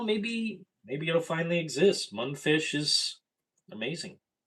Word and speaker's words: Mundfish: Mundfish is amazing. I hear people pronouncing their name wrong. M u n d f i s h Mundfish.